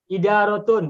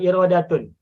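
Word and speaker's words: إدارة: kantor salah maaf kantor apa Idaratun, bukan irodatun.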